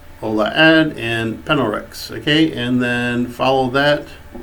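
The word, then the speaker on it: PNLRX: And the third one is Penelrex. And in case if you're wondering, Penelrex is spelled P-N-L-R-X.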